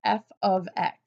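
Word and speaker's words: f(x): written oftentimes as F parentheses X which is pronounced f of X before we define what it is to be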